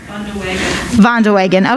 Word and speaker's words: Vandeweghe: I don't know how to pronounce this last name, unfortunately, but Sven Vandeweghe, I think. Sorry? Vandeweghe, okay, yeah, thank you very much for that.